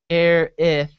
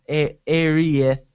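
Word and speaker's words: Aerith: The two syllables sound like Airith, soft th sound, not Arieth or Arius.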